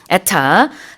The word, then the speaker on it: ETA: 지금 얘기하고 있는 거는 에타 the electronic Travel AUORation 전자여행 허가를 얘기하고 있어요.